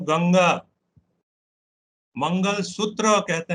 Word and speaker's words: गंगा: मेरा काफी गड़बड़ है, लोग मेरे प्रोनाउंसिएशन को जब ठीक करते हैं वो कहते हैं गंजेज, मैं कहता हूं गंगा।